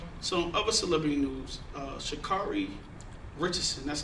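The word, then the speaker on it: Sha'Carri: Uh, Shakari Richardson, that's how you say her name.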